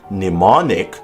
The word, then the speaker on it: mnemonic: One can get through much of life without never encountering M in its silent form. By the time a person is ready for a word like mnemonic, they have likely come to accept the indecencies of silent letters in English.